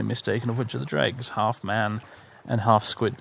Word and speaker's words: Dreugh: meant to pronounce this i know that in oblivion the npcs will pronounce it dreg i remember that because